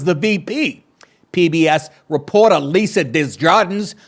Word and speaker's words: Desjardins: PBS reporter Lisa Desjardins, or if you're French, Desjardins, that's how they say it, Desjardins.